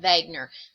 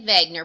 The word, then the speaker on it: Wegener: Wagner now I say Vagner because he's a German scientist and if you look